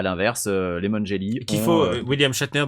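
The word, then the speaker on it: William Shatner: une performance vocale de William schatner euh et à l'inverse les monelli qu' faut William chetner dont il faut prononcer le le nom très clairement sinon c'est william Scheller les gens donc William schatner le capitaine Kirk de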